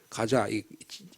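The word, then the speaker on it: Gaza: 자세히 들어보면이 가사가 가사입니다 가자 영어 발음은 우리말은 가사라고 되어 있죠 영어로는 지금도 발리신 사람들이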